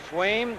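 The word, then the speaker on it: Sveum: Well, that kid, I don't know how to pronounce his name, S-V-E-U-M. He is filling in. Swaim.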